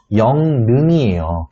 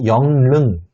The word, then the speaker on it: 영릉: 아니라 그런 친구들이 있는데 영릉이라고 되어 있는 단어의 올바른 발음은 영능이에요. 근데 이거를 억지로 영릉이라고 발음을 하는 친구들이 있습니다. 물론 친구들한테 야, 너 발음 틀렸어 이렇게 지적하지는 않지만 속으로는 생각하죠. 영능이 맞는 발음입니다.